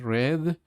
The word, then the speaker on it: read: Se pronuncia read.